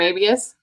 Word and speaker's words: Mabius: I just don't know how to pronounce his last name. It's Eric Mabius.